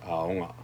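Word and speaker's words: āoga: So to give that emphasis on the first syllable, you put the macron over it and aonga.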